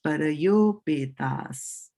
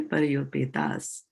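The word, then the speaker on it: parāyopetāḥ: So A here gets combined with the U here and becomes an O, right? So remember that? That becomes parayopetas. Okay, parayopetas.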